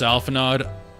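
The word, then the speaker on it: Alphinaud: It's pronounced Alphanod. I'm gonna say Alphanod. I don't like him, so I'm gonna mispronounce his name on purpose. How pretentious is it to put an AUD on your name and say it's O?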